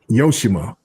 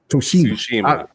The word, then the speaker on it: Tsushima: Pronunciation. He says, you still can't say Yoshima. Tsushima.